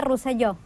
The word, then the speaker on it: Roselló: Si es catalán, se pronuncia Roselló.